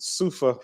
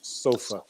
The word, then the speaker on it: Soofa: seem to smell it a lot of people see the spelling of it and they pronounce it suffer but it's actually pronounced sofa and sofa is an